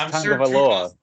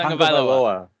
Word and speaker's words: Tagovailoa: I don't really want to pronounce his last name because I'm going to mess it up. I think it's Tagovailoa. That's correct. Is it? Tagovailoa.